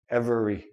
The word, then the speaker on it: every: talk about that next another word every e i don't say every I don't say this letter e every every everyone everything every okay last squeeze letters